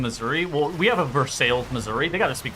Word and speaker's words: Versailles: It's Versailles, Missouri. It's near Lebanon, Missouri. Spelled like Lebanon.